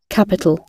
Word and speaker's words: capital: সবাই একটু খেয়াল রাখো, এই দুইটার উপরে স্ট্রেস নেই। এই কারণে এখানে এটা পি হবে, এটা টি হবে। এটাকে কিন্তু ফি বলা যাবে না, এটাকে কিন্তু ঠি বলা যাবে না।